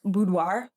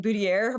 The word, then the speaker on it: boudoir: Boudoir.